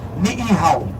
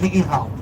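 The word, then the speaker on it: Niʻihau: Oh, beautiful pronunciation, too. Ni'ihau. Very good job. Ni'ihau.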